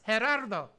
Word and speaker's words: Gerardo: es pronounced Gerardo.